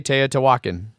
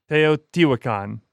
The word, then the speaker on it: Teotihuacan: No, I'm not gonna re-say Teotihuacan. Teotihuacan.